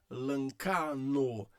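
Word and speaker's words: λαγχάνω: Então você tem o gama antes de que, e aí você tem a palavra dessa forma. Então, lancano. Então este gama tá aqui, que é a letra N, o que tá aqui, que é o CH, tá?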